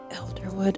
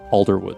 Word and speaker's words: Alderwood: Elderwood Athenium. Alderwood, sorry, I'm pronouncing that wrong.